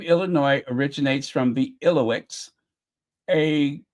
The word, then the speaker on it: Illinois: the o i s the S is silent of course it always drives me